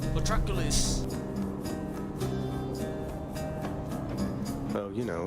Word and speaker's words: Patroclus: I know his name is pronounced Patroclus. Patroclus!